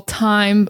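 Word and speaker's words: thyme: But, there is a plant that we call time, but it's spelled t h y m e, but it's pronounced time.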